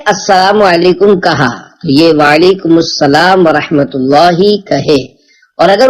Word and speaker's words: وعلیکم السلام: جواب سناتا ہوں، پھر آپ اس کو دہرائیے۔ وعلیکم السلام، رضائے حق کے لیے تم سلام عام کرو،